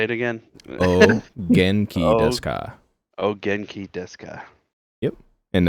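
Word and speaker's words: お元気ですか: The U is silent, so you pronounce it Ogenki desu ka. Desu ka. Yep. Ogenki desu ka.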